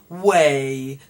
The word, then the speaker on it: weigh: The GH there at the end is not pronounced.